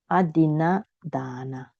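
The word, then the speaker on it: adinnādāna: They pronounce adina dana. It's wrong, You should not pronounce adina dana. You should pronounce adina dana. Okay, you should make your a long. Because if you recite as adina dana, so you recite like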